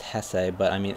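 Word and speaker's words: Jesé: if it is pronounced Hess but I mean it's it's um you know he's spish and that's how you pronounce a j so I'm going to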